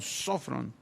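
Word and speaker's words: σώφρων: del griego sofron sofron tiene acento en la primera o sofron y sofron que se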